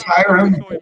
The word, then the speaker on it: Hiram: No, It's Hiram. That's how they say it in the movie.